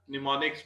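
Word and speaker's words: mnemonics: निमोनिक्स में कर देते हैं एम को साइलेंट।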